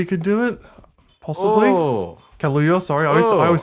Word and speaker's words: Kaluuya: Oh, Kaluuya, sorry, I Ooh. always say his fucking name wrong.